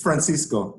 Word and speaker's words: Francisco: people don't not know how to pronounce my name but don't worry it's Francisco it's in Spanish uh my name is Francisco sco uh I'm from